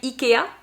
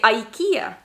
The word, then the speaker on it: IKEA: things like that and in french we're going to say ikea ikea but in english we are going to say ikea ikea quite different right so it could be